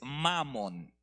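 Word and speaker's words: Mammon: es así no pero lo voy a decir con un acento distinto para que no se oiga Cómo es la grosería pero es mamon Okay Estoy enfatizando la primera sílaba no mamon como la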